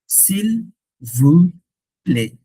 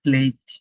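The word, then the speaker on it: s'il vous plaît: সিল ভু প্লে, সিল ভু প্লে, নট প্লেট, যদিও টি আছে, টি নাই, বলার সময় নাই।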